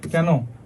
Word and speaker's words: কেন: কি পড়ছি দুই অক্ষর দুই অক্ষর বিশিষ্ট সর্বনামের ক্ষেত্রে অথবা অব্যয় পদের ক্ষেত্রে কি হয় এ এর মত উচ্চারণ হয় যেমন এত কেন এত কেন পড়তে পড়তে